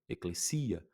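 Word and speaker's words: ἐκκλησία: complicadas, fica fácil porque k, k, l, lambda e eta tem um som de clê. Então, eia, eclesia, que é a palavra igreja.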